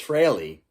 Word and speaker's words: Frehley: It's not Frehley. It's Frehley. He said it himself in